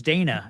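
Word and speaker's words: Daena: It's Dana.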